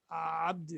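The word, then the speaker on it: عبدي: Yes, the pronunciations come somewhere down the throat. You say Ali, Abdi, right? So make sure you widely open your throat.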